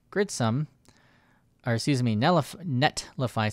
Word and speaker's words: Netlify: If I'm using something like Gridsome, or excuse me, Netlify, someone told me the other day I was mispronouncing because I didn't pronounce the T in Netlify.